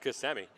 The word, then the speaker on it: Kissimmee: take the pitch beautiful sunset here in beautiful Kissimmee and yes it is pronounced Kissimmee reminds me of the beautiful face of our